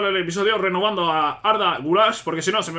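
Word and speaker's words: Güler: rescisión de B Bueno guler realmente se pronuncia gulash arda gulash Sí muy bien Bueno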